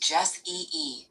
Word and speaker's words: Jesse: Jesse is pronounced Jess-E-E with the stress on the first syllable.